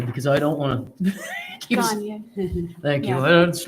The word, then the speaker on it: Gagne: Gagne.